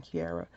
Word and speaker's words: Chiara: her name is chiara we're using kiara at least that's how i pronounce it as c-h-i-a-r-a-n-c-h i makes the key sound for me or the chi right